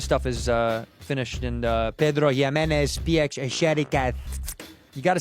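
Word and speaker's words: Pedro Ximénez: Uh this stuff is uh finished in Pedro Jes.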